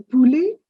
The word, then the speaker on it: poulet: Le poulet. T silent.